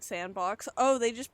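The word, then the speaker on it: s&box: Sandbox pronounced like sandbox.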